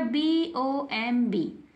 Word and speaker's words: bomb: Last में हो और उसके ठीक पहले एम हो, एम बी लास्ट में हो और ठीक पहले एम हो, तो बी जो है हमारा चुप रहता है। बी को हम पढ़ते नहीं हैं, एकदम साइलेंट रहता है, चुप रहता है, चुप। लिखा हुआ है BOMB।